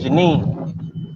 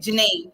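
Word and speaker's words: Djenné: You Okay, don't pronounce the Janine. D, it's Janine. Yeah. Okay, Janine.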